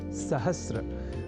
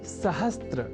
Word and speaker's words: सहस्र: अशुद्धि करने लगे हैं, और वह शब्द है सहस्र, जिसे सहस्त्र इस रूप में न केवल लिखने की ही बल्कि बोलने की भी प्रवृत्ति या कुप्रवृत्ति बढ़ गई है।